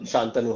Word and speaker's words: Santanu: Then I think I'll be like, uh, Shantanu. Shantanu.